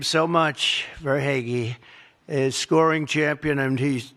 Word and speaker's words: Verhaeghe: But the title couldn't have been won if you didn't have a man named Carter Verhaeghe. Carter Verhaeghe. Where's Carter? I can only pronounce that name because I heard it so many times during the service.